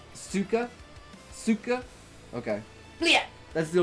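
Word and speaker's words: сука: For future reference, CYKA is a Russian swear, usually pronounced ska. The only Russian word I know is bleh! Pronounced suka?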